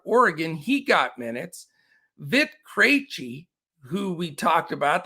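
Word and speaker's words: Krejčí: Vit Krejci, who we talked about, that was one I couldn't pronounce for a long time until one of our listeners said it's Krejci.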